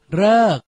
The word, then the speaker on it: ฤกษ์: หรือ ไทย หรือ ดี อ่าน ออก เสียง เรอ เช่น ฤกษ์ 2 ใช้ ประสม กับ